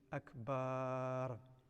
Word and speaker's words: Akbar: do not say iqbar do not lengthen the bar so to say Akbar okay and that means a drum so it changes the